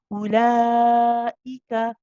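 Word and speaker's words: أولئك: Okay, ulaika, ulaika. You prolong the lam, you then pronounce a nice sharp hamza, and you say ulai, ulai, ulaika.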